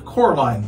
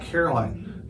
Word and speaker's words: Coraline: They got your name wrong. You know, they kept saying Coraline, not Caroline. Not Caroline at all.